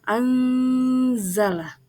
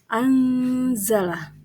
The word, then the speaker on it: anzala: bertemu dengan huruf Za cara membacanya samar-samar dengan membentuk huruf Za jadi cara membacanya itu adalah anzala anzala jadi pada saat kita